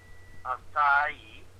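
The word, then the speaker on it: açaí: Acai. It's pronounced acai.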